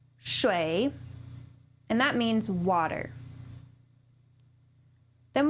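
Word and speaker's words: 水: Our first is pronounced shui, shui, and that means water.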